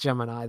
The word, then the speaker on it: Gemini: uh I forgot that that Gemini is not pronounced Gemini that's uh yeah you whatever okay my dick that's that's the yeah that's the Sonic if you're unaware that's the correct NASA pronunciation for the Gemini Miss pronunciation he can't